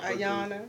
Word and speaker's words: Ayana: Ayana. Ayana, Okay. but it's like spelled with. Ayana, like Alana Van Zandt.